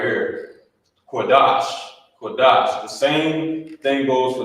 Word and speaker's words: Qadash: for this right here he wouldn't say quash because of this connected these connectors they like I said they combine they combine two of the characters together and you will pronounce it as such you will pronounce it the same way so like like it was combined so instead of saying it's connected at the bottom you say kadash you know I mean